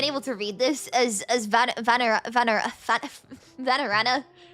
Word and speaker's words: Vanarana: to read this as Vanarana. I've been reading it as Varanara this whole time because I skimmed over it. My brain saved the wrong pronunciation to memory.